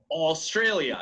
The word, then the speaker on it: Australia: do you say Australia you spell it the same as in Spanish but how do you pronounce it Australia yes alien pork is